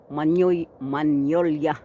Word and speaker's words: Magnolia: present no yan yung Magnolia manola ang tawag dito no Kasi silent G sa atin Magnolia kasi may g